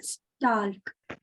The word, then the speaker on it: stalk: Stalk. Yes, STALK, stalk. L is silent.